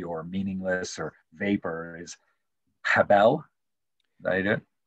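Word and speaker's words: הבל: meaningless, or vapor, is habel. Did I do it? I would say Chavel, but Habel. You're good.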